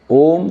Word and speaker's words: Om: we chant oh om consist of a U and Ma three syllables a represents the waking